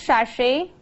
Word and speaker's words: sachet: How do we pronounce sachet?